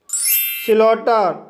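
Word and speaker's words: slaughter: स्लॉटर, स्लॉटर शब्द में ए यू के बाद जी एच आया है, इसलिए जी एच साइलेंट रहेगा, इसलिए इसे स्लॉटर पढ़ा जाता है।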